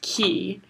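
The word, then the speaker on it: Quay: is called like Kia spell like q u a y but it's pronounced key so I have one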